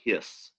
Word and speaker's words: His: called the bundle of hiss okay it's spelled h it's not his as in his and her it's actually named the